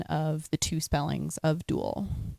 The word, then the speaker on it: Duael: heard that a lot it's duel as in dueling opponents as in dual partner because our game format